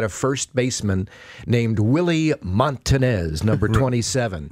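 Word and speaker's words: Montañez: And I'm on the field the next day going over some pronunciations. And Willie Montanez walks behind me and he says, Montanez, Montanez.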